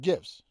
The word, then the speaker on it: GIF: them they animate like gifts yes with a hard G I've been having a